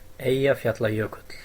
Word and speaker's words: Eyjafjallajökull: Eyjafjallajökull. It's not bad. Do you want to hear the official pronunciation? Here it comes. Eyjafjallajökull.